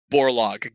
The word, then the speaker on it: Borlaug: do you how do you say that warlock borlaug got it yeah and that is named after a scientist named borlaug who um here because that was the world's